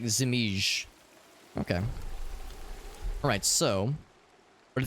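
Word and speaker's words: Żmij: It's not like you said Viper, but it's like Zimij.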